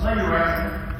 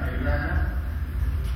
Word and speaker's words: Majorana: It's pronounced Majorana. The letter J doesn't even exist in Italian. In Sicilian it does, but it's read like as an I, Majorana.